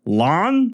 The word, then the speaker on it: Lan: the Greenbone Saga where the name Lan is pronounced Lon, your dumb dyslexic brain won't make the shift.